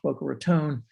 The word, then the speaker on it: Boca Raton: And it was originally incorporated in 1924, and they spelled it like it's pronounced, Boca Raton. In 1925, they dropped the E, but kept the pronunciation.